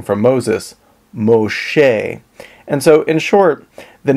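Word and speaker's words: משה: interesting to me that the name Moses in Hebrew is pronounced Moshe and this is very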